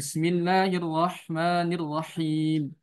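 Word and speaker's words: بسم الله الرحمن الرحيم: Jadi cukup 3 kali takrirnya. Bismillahirrahmanirrahim. Jangan Hirrahmanirrahim. Nah, ini kebanyakan takrirnya. Jadi ini takaluf yang sering terjadi di Indonesia.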